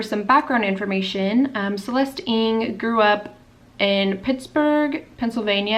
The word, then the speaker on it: Ng: to be talking about celeste ing spelled ng pronounced ing um she's one of